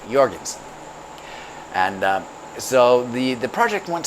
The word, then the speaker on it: Jorgensen: J's are pronounced as Y's, so Jorgensen.